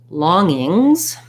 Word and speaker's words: longing: words you asked about longings so let's look at longing first and then longings so if i'm longing the challenge here is that i have two ng sounds so working on just